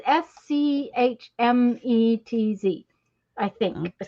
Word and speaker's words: Schmetz: But I Schmitz. Schmetz, it's Schmetz, I think is how Okay.